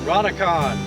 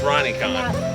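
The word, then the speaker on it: Ronicon: And Ron's channel, which is Ron-a-con. Ron. Ron-a-con. Ron. My name is Ron, and I drive a Rubicon. So spell that. Ron-a-con. Ron. R-O-N. R-O-N-I-C-O-N. See, that's Ronnie-con.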